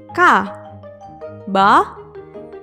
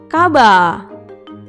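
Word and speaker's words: カバー: Ditulis dengan huruf katakana, jadi ka, ba, strip, kaba.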